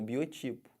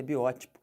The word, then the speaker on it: biótipo: que fala isso biótipo o pessoal fala como Biotipo tá errado o certo é biótico aí eu sou um